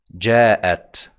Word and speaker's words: جاءت: جاءت. جاءت. See that sound in the middle?